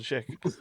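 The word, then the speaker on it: Schaech: I think it's Jonathan Sheek. Jonathan Sheek. Jonathan Sheek. I don't Yeah. One of the ongoing jokes has been that we could never pronounce his name.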